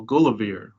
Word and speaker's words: Gulliver: is written by Lemuel Gulliver, one who is beloved of God, and the pronunciation of Gulliver we see in Pope's poem The Dunciad, that Drapier and Gulliver rhyme with one another, and so if you